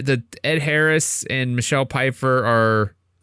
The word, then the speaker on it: Pfeiffer: I keep hearing a P. Jeff, say it. Pfeiffer Michelle Pfeiffer Pfeiffer Pfeif-er Pfeif-Pfeiffer I still hear a P when you say it like that. No, I'm absolutely not saying a P. Pfeifler There's no L. Pfeif-yeah. He's adding letters. There's no L in her name.